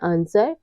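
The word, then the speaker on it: answer: कब साइलेंट रहता है यदि किसी वर्ड में एस के बाद डब्लू आता है तो डब्लू हमेशा साइलेंट रहता है जैसे है आंसर और साड इन सब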